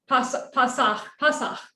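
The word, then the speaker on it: פסח: I'm not doing the vowels, but that would be pronounced more like Pasach.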